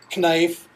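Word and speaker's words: knife: was always reminded that that K is silent and that uh you know you just say that word as we start to look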